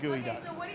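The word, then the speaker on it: geoduck: hard to get and it's not gooey it's not actually gooey it's just a clam and it's not even spelled like guey I can't even spell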